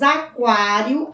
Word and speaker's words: aquário: vocês obter a palavra aquário qualidade quando nós pronunciamos aquário aquário qualidade oo é pronunciado outra palavra teku